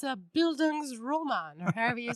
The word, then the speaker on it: Bildungsroman: So Kipling, among many others, he wrote what are called, I'm going to say it wrong, Bildungsroman.